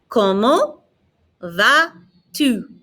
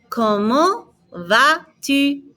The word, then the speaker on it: Comment vas-tu: Comment vas-tu? Notice I'm not pronouncing the T on the end of comment. I'm not pronouncing the S on the end of va. Répétez. Comment vas-tu?